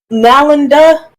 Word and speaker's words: Nalanda: Opaline basically did the destruction of library of Nalanda is how it's pronounced.